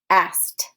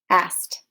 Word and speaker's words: asked: a soft air consonant it's gonna sound ed's gonna sound more like a t sound at the end so it's jumped jumped asked asked some other examples kissed